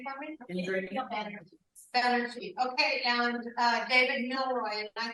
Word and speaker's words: Banerjee: Okay, maybe you could pronounce his name for me? Banerjee.